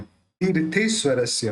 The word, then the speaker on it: तीर्थेश्वरस्य: तीसरी लाइन, तीर्थेश्वरस्य, थ के ऊपर जो रेफ है उसको ती के साथ जोड़ के बोलेंगे।